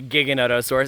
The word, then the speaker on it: Giganotosaurus: Argentina this is Giganotosaurus stop pronouncing it wrong all you uh naughty people pronouncing a giganotosaurus it stands for giant Southern lizard Latin not English there we go Giganotosaurus